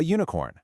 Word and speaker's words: unicorn: It starts with a vowel u, sure, but phonetically, it begins with a yuh sound, a consonant glide. So, it takes an a, a unicorn.